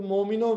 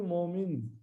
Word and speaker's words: मोमिन: अर्श कहिया दिल मोमिनो बोल देते, चौपाई में कैसे है? अर्श कहिया दिल मोमिन, मोमिन नॉट मोमिनो, अर्श कहिया दिल मोमिन, अर्श में सब विषाद।